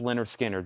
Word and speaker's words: Lynyrd Skynyrd: Masters 2lp 45 RPM Leonard Skynyrd pronounced Lynyrd Skynyrd this will blow your